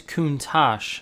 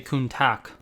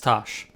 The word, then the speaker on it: Countach: how to say it, but it is Countach, like T-A-S-H, not how it's spelled, which is T-A-C-H, which I would say Countach. But it's Tosh. Countach.